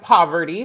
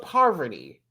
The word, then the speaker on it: Parvati: We have Poverty. She's from Survivor. This guy was Deontay. Isn't it Savarti? I don't think it's pronounced Poverty. I think it's Poverty. Really? Oh, okay. Interesting. Not poverty, but Parvati.